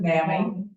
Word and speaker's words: NAMI: Okay, now you will occasionally, just so you know, hear people pronounce it NAMI. Potato, potato, I am not gonna fight that one. The people here in Albuquerque in the organization tend to pronounce it NAMI.